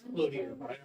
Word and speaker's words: Cloutier: Well, actually, it's Cloutier. I might have done it different ways. I'm sorry. I have a name like that too. Cloutier. Cloutier, that's like my family. French way.